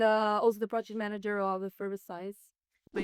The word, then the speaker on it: Effervescience: Effervescience. Science. At least that's how I say it.